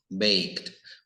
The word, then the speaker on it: baked: worked picked up liked baked Bueno aquí No termina en K pero casi porque la e no se dice verdad cuando decimos I like